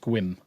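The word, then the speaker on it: Sequim: Um, because there's an E in there where it's actually pronounced squim.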